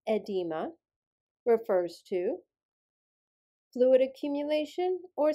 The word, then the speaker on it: edema: The suffix or word edema, pronounced edema, refers to fluid accumulation or swelling.